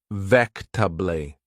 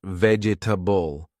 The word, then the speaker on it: vegetable: I didn't hear the t sound. I asked again and they said slowly, "It's pronounced vectably, not vegetable."